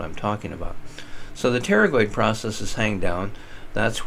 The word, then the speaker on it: pterygoid: picture those are the pterygoid processes you might notice the root word teri you know don't pronounce the P usually PT ery Terry in